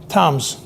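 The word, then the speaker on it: Thames: a river called TS yeah that's the river's Toms that's how it's pronounced even though it's spelled t h m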